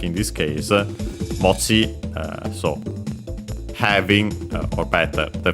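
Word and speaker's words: 持ち: And then we have this mochi. Would be accent on the last syllable, which makes sense because it comes from a verb, an accented one, and so it follows the rules.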